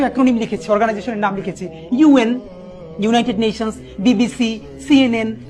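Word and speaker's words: UN: লিখেছি, অর্গানাইজেশনের নাম লিখেছি, ইউএন, United Nations, BBC, সিএনএন, সিআইএ, আইএমএফ। সবাই খেয়াল করি, আমি এই অর্গানাইজেশনের নামগুলো যখন বলছি তখন কিন্তু আমি ইউএন আন বলছি না, বলছি ইউএন। সিআইএ কে কি আমি সিয়া বলছি না, বলছি কি সিআইএ।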